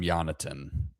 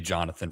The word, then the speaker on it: Jonatan: I'm not going to call him Jonatan. Uh it's going to be Jonathan for me. Yeah, you you do it. Well, that's the pronunciation.